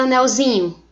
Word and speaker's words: anelzinho: Veja a palavra anelzinho. Na palavra anel, qual é a sílaba tônica? Nel. Quando eu pego a palavra anelzinho, faço essa transformação, o zin passa a ser a sílaba mais forte. Anelzinho.